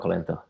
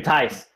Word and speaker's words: Thijs: His name is It's not Colento. It's actually Thijs.